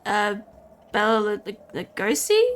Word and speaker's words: Bela Lugosi: The original Dracula with Bela Lugosi, is that how you say it?